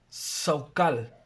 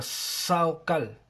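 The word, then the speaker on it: שכל: Esto viene de el Strong H7919, y es la palabra hebrea, el H7919, y es la palabra hebrea Saukal, así como se escribe, Saukal.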